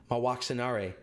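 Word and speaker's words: Mwaxanaré: the tiefling and princess my walks in RA there's actually an extra syllable in there by the way my walks up my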